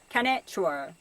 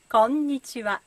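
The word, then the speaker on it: こんにちは: And this is not konnichiwa, but konnichiwa. It has 5 syllables.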